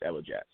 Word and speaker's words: Elajahs: It's what I tell people is you separate the ELA, and then you separate the jazz, and you put it together, and it's Elajahs. So you got Elajahs.